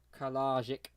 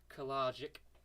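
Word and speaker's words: Kalajdžić: But yeah, the man with the hardest name to pronounce, Kalajic. I think that's how you'd say it, isn't it? I think it's a silent D. Kalajic.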